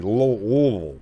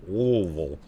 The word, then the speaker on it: Louisville: Louisville. Louisville.